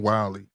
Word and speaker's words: Wyllie: Wiley. How you spell that? WYLLIE. A little bit like Wile E. Coyote.